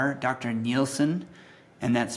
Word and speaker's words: Nielsen: Nielsen, and that's spelled N I E L Sen.